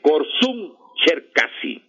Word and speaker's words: Korsun-Cherkasy: Se llama la batalla de Korsun-Cherkasy. Korsun se escribe con K-O-R-S-U-I-N. Korsun-Cherkasy, o Cherkasy, con doble S y E. Y la K, perdón, la C es de la K.